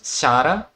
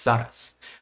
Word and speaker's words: Zara: I always want to say Zara's name as Shara because that's how you spell in Portuguese. That's how you pronounce in Portuguese, but it's Zara's.